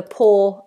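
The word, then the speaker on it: paw: So if the poor um the foot of an animal is their poor, it's pronounced the same as pouring a drink and to have no money.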